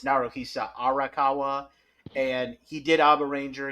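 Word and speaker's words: Naruhisa Arakawa: F first of all I mispronounced it it's naroa arakawa and he did ABA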